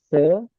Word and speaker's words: sepuluh: number 10, we usually say it like sepuluh. Right? Sepuluh and lu.